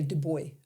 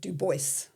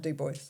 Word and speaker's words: Du Bois: Um Europeans say Du Bois and all Americans say Du Bois. Okay. That was his name cuz he was American. So, he was Du Bois and he's from Des Moines.